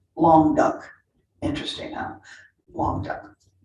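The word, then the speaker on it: Languedoc: area that was called long duck interesting now long term it's a french word but they tell me that's how you pronounce it okay in the city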